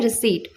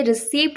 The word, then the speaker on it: receipt: English में कहते हैं रिसीट। तो ध्यान रखिएगा ये बहुत कॉमन वर्ड है। कहीं भी आप जाएंगे बिल पेमेंट करेंगे तो आज से रिसीप्ट नहीं बोलना है, रिसीट बोलना है।